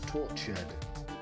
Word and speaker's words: tortured: Tortured. I don't like U-R-E-D. Tortured. Tortured. It's 2 syllables, isn't it?